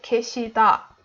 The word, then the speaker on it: 계시다: So we don't say, for example, in the word 계시다, we don't say the stress on 게. 계시다. Instead we say 계시다 for da.